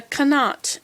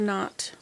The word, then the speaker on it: knot: do you know that in Dutch they pronounce the k so Dutch people that try and speak English they call it a canot instead of a knot look at here we